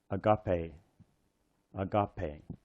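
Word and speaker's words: ἀγάπη: one are both e this one is a long e so sometimes we write a a little Mark over top of it to indicate that it's a long e so this word is pronounced Agape Agape coming out to the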